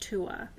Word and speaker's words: Tuatha: So it looks like Tuatha, and people pronounce it that way, but it's pronounced Tua. Or Tuatha, you'll hear that too.